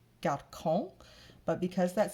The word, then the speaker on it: garçon: And there are some exceptions, such as garçon, which is a C followed by an O, which ordinarily would say garçon.